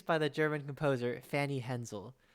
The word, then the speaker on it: Hensel: the german composer fanny hensel who's that it rhymes with moon that is true fanny